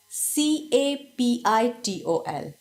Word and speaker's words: Capitol: Now we will see CAPITOL. Different from capital by an O. It can be confused with capital. The pronunciation of both the words is also the same. That's the reason they are homophones.